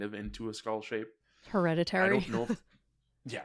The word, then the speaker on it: Hereditary: I think on the Podcast of Terror episode, I kept saying Heredity or something. I could not fucking say it. Hereditary.